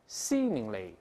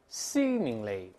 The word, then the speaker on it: seemingly: 跟老师大声再读一遍，seemingly, seemingly，这个发长音一，不要读 seeming，是 c，再来一遍